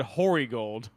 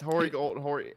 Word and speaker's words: Hornigold: You said Hoary Gold. It's Hornigold. I don't know how it to was pronounce it was You horny said gold.